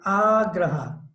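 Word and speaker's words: āgraha: And agraha, there's a diacritic dash or mark over the A. So it's pronounced long, agraha, eagerness to accept.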